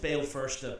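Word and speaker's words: Béal Feirste: Anglicised, Bale Firsta, Belfast. Because our friends over the water could pronounce that a little bit better.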